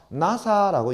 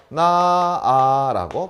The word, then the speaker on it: 나아: 나사라고 이야기합니까? 아니죠. 이렇게 발음하더라라는 거죠. 나아라고 발음하게 되더라라는 것.